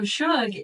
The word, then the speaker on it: SHUG: up with the name so Suge is actually a derivative of sugar which is a southern endearment right my Texas mom calls me Suge all the time now she spells it sug but phonetically that makes no sense because that's actually thugg right oh so sug was as close as I could get to the phonetic for the short abbreviated form of sugar oh that's fun which